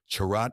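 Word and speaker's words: Cha'Rat: "Also, it's pronounced charat and chinura," All Lady says after a moment, and he gives her a look.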